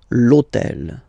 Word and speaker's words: hôtel: H, but remember that in French we don't pronounce H, okay? So basically the first sound of the word is the vowel O, okay? So for the same reason, E needs to disappear. L'hôtel.